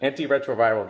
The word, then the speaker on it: antiretroviral: of Africans by providing antiretroviral, that's how you pronounce it, antiretroviral drugs.